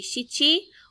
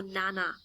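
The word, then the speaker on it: 七: she and yon and number seven can be shichi or nana for our ages we use shi and shichi so we don't need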